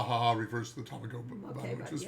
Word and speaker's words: tamago: used to make egg puns in both Japanese and English, but that was a long tamago.